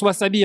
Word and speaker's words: Wasabi: Alors qui en qui en japonais se prononce Wasabi hein. Le S prononce S.